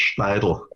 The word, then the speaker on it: Steidl: Well, it's actually Austrian, it's Steidl.